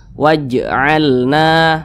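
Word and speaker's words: وَاجْعَلْنَا: Maka huruf jim ini bacanya itu dipantulkan, dan dia termasuk kepada qalqalah sugro karena di tengah kalimat. Jadi pantulannya itu kecil saja. Waj. Nah, seperti itu. Waj'alna, mantul. Waj. Nah, jangan dibaca seperti ini.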